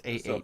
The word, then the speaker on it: Ahsoka: It's Ahsoka. AH.